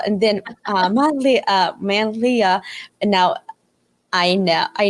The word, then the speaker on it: Manlia: you for claire i initially thought it was manila as well and then uh monthly uh man leah and now i know i now know i